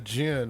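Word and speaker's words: djinn: people who don't no um Jin it's it's a middle eastern term for a supernatural being uh it's spelled DJ I NN but it's actually where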